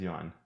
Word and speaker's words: yuan: Yuan, Chinese yuan. So you would say it faster.